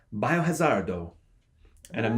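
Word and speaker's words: バイオハザード: Japanese game it's called biohazard Oh and I'm not saying that race race asleep that's actually how it's pronounced its biohazard with an O at the end and I looked at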